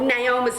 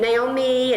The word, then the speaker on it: Naoma: Oh, Naoma's a stupid name. No one can pronounce it, even though I tell them constantly it's Naoma with 2 dots over the I, but they keep saying Naomi and Naomi.